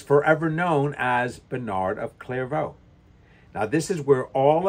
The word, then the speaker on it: Clairvaux: brother Bernard is sent to the city of clairo the one word I can get pronounced correctly where he is to establish a